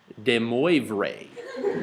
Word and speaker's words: de Moivre: And this is the essence of what my good friend de Moivre tells us.